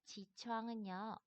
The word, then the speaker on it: 起床: 잠에서 깨어나는 것을 지추앙이라고 발음을 합니다. 지추앙. 얘는 창에 가깝게 발음을 해주시면 되고요. 얘는 우앙이니까 창에 가깝게 발음을 해주시면 되겠습니다.